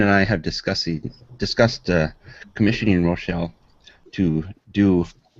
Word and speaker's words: Rouchiel: And I definitely want to get that picture that Rouchiel, is that how you pronounce it? Yeah, Rouchiel, yeah.